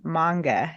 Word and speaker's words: manga: So first of all, it's pronounced manga and not manga.